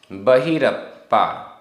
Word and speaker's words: बहिरप्पा: बहिरप्पा आधपा पूरा पा।